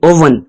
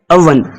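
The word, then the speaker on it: oven: गलत प्रोनाउंस करते हैं लोग कहते हैं ओवन ओवन लेकिन यह एक गलत प्रोनंसिएशन है इसकी जो सही प्रोनंसिएशन होगी वह है अवन अवन क्या है अवन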